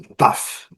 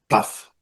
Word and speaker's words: tough: Essa é legal, essa é tough. Olha, touro. Desavisado é pronunciar touro. Olha para você, ver bem ótimo. Tough, tough.